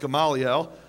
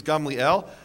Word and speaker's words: Gamliel: So a precedent a precedent which baniel you probably thought it was pronounced gamaliel. Uh the correct Hebrew pronunciation is Gamliel and Gamliel as you